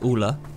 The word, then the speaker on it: Ulle: So I obviously butchered the name earlier when I said Ollie. It's Ulle and Lillimore.